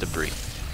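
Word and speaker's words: debris: in RIT as a Deborah's eye case you're worried I do know that that is pronounced debrief we got another dark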